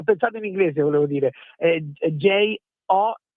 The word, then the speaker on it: Gio: Quindi Jo, scritto proprio come si pronuncia in italiano.